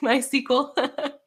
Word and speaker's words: MySQL: do it you know like my sequel that's how i pronounce it mysql is that what you